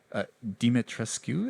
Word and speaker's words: Dimitrescu: And there's obviously these creatures out here that kind of lead him to Castle Dimitrescu.